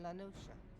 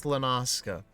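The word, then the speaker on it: La Noscea: south tidegate in western lanosha halfstone was called i'm not pronouncing like that it's lenaska some years prior to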